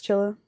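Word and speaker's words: Csilla: Chilla, or whatever the fuck, however the fuck you pronounce that. It's Chilla.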